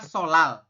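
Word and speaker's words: 설날: atas ya sol Nal tulisannya kan sol Nal teman-teman kita membacanya itu adalah solal seperti itu jadi ee dibacanya adalah solal se Seo l terus l a l seperti ini teman-teman ya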